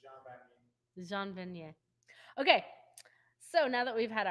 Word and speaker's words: Jean Vanier: Yeah, it would be Jean Vanier if you're going with the English pronunciation, but Jean Vanier.